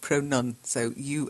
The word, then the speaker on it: pronunciation: is the correct pronunciation it's not a pronoun okay Pro none so you and in the middle PR Oh nunc ia tion and of the word